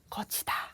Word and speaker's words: 걷히다: 제가 지금 오늘의 주제를 소개할 때 눈치채셨겠지만 쓰기는 이렇게 다르게 쓰지만 발음은 똑같아요. 거치다, 거치다.